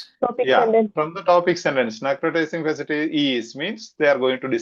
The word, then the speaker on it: fasciitis: Necrotizing fasciitis. Am I pronouncing it correct? This one. Fasciitis. Yeah. This one. Fasciitis. Fasciitis. Okay. Why 2I? I don't understand. Okay. Fasciitis. Because it's not pronounced as it is written.